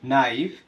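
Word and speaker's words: knife: এর উচ্চারণ হয়নি পরিচিত নাইফ ছুরি নক করানাড়া নি হাটু নীল হাটু গেরে বসা নিট বোনা নক গোলাকার হাতল নাকল আঙ্গুলের গা প্রতিটি ক্ষেত্রেই আমরা লক্ষ্য করলে দেখব এখানে কে উচ্চারণ হয়নি অর্থাৎ এখানে কে উচ্চারণ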